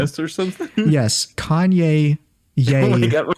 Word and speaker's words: Ye: It's pronounced Ye because it's the Ye in Kanye.